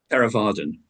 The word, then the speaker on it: Theravadan: No, I believe I have read you became a Theravada. Is it correct pronounced? Theravadan.